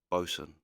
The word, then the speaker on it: boson: Boson. Yeah, Bo. If the vowel's straight after the consonant, you pronounce the vowel before, like how it is O.